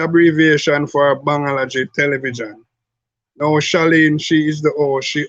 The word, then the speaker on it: Shaleen: Well, you know, actually, her name is Shaleen. Not Shaleen. How would you pronounce it? Shaleen. Oh, Shaleen. Yeah. Like Sha, and then you lean to the side like that.